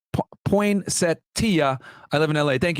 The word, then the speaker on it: Poinsettia: Okay, the street name is pronounced Poinsettia.